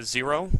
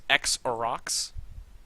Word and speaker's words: Xerox: Let him know that it was a mistake, and it was a 0 with the when we pronounced it 0. It is actually because it's X X-E-R-O, and then X. It's X-Orox.